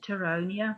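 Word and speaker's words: Pteronia: here's another species called terronia the p is silent and here you can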